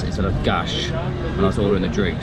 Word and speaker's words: gás: So, in Portuguese, or at least in Portuguese Portuguese, the S is pronounced as sh. I made that mistake earlier by saying gas instead of gash as well in the drink.